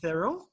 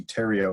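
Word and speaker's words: Theriault: It's Thurl. It's it looks like that. Everyone pronounced that way, but it's actually Terrio, like Ontario. Terrio.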